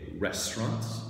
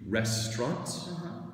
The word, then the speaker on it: restaurant: And this is a restaurant. Okay. And we can say it with two syllables or three. Restaurant.